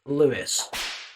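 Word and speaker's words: Louis: Now, his name is spelled L O U I S. Matt Lewis.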